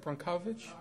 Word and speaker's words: Brockovich: How do you pronounce that? Brockovich?